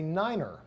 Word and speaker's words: niner: we say Fife so to pronounce the number five we say Fife for three we say tree and for nine we say Niner for ten what do we